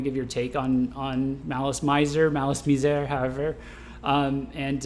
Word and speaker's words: MALICE MIZER: friends who are really into them that it's malice miser uh so i'm i'm not uh so yeah